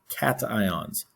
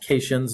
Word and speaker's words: cations: protons and you have positive ions are called cations i want everybody to look at that word and listen to how i say it cations not casions not cassians it is cation cation cation i'm going to